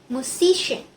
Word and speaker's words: musician: The suffix in attracts the attracts stress to the syllable before it. Musician. Musician. Musician.